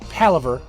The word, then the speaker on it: palaver: Okay, but now it's palaver. Even though it's spelled practically the same. Hey, I'm pronouncing it right, motherfucker. That's all I want to say. You're gonna call it palaver? It's palaver because that's what the word is.